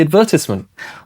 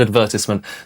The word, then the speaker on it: advertisement: Ashley got the part in the advertisement. Well, Poppy did. Let's start with advertisement. The word advertisement. How many syllables is it? Advertisement. Four. Right. And where's the stress? Advertisement. Vert. Right. Advertisement.